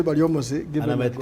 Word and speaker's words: Baryomunsi: And the only union surviving, and as my brother Baryomunsi, who in Bugisu is known as Baryembusi. That's how they pronounce his name.